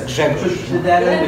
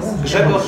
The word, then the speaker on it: Grzegorz: How is its pronunciation? Well, let's say it's gonna be Greg, because my name originally is Ggrzegorz, which is really difficult.